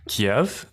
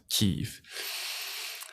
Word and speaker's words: Kyiv: thought the pronunciation was Kiev, but it's actually Russians who say Kiev. Locals to Ukraine, from my understanding, pronounce it Kyiv.